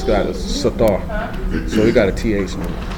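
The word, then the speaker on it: סתר: But it's pronounced sathar.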